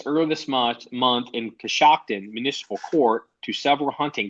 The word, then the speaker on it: Coshocton: um cost you koshkin how do you say that cos Coshocton shocked in Coshocton okay so cos shocked at Ohio listen dude there's a